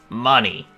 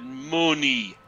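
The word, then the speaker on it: munny: 3,600 Mooney. Mooney. 1,200 Mooney. A total of 4,800 Mooney. It's pronounced money, but yeah.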